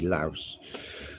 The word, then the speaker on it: Laos: Some people just call it Lao, but that has got an S, so it should be Laos.